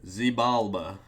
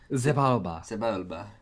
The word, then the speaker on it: Xibalba: I'm gonna call it a Zibalba, like Sebulba. Zibalba? It's like say Sebulba in a Spanish accent. Zibalba.